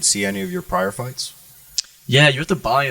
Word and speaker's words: FITE: Is there any way the audience could see any of your prior fights? Yeah, you have to buy them. My last fight was on Fight TV. It's spelled FITE.